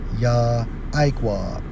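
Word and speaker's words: יַעֲקֹב: Okay, this is for Jacob, Strong's H 3290, pronounced as Yah-Iqwah, which means heel holder or supplanter.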